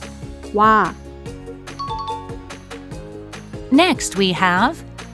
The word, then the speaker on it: 와: It's a compound vowel, but don't pronounce it in 2 individual sounds because the vowel is in 1 sound. 오, 아, 와, Next we have 왜,